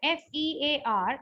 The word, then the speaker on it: fear: So the word FEAR is fear. How many phonemes it has? Fur is one phoneme and ear, R is silent.